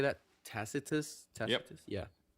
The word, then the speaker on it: Tacitus: Tacitus.